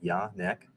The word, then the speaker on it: Jan-Paul: But my name is Jan-Paul, pronounced just like it says at the top left there, Jan-Paul.